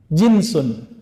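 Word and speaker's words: جنس: Jinsun, jins. Pakai jins nggak Pak? Itu beda lagi ya. Jins itu bacanya ya. Kalau ini jinsun, jim nun sin.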